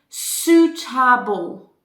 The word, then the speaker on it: suitable: unforgettable it's strong okay number three suitable suit this part suit ah bull like here are bull suitable okay comfortable unforgettable your turn suitable and the pronunciation of those is abu and you apply it every time you use this suffix okay so do listen